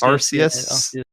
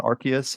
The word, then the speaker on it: Arceus: It's that it's Arceus. Soft C, not Arceus.